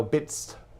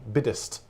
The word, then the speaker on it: biddest: thee and that's thou bits it's got a sort of a syllable missing out of it b-i-d-d uh hyphen s-t biddist and that's thou biddest